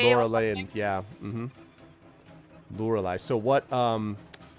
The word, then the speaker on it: Lorelei: Oh yeah, there are like different ways to pronounce it. I think the English pronunciation would be Lorelei. Lorelei, and yeah.